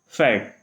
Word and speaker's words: Pferd: तो इस कंडीशन में जो हमारा P होता है ना, वो हमारा साइलेंट हो जाता है। जैसे PFERD ये लिखा हुआ है, तो हम लोग इसको क्या पढ़ेंगे? फैट। फैट।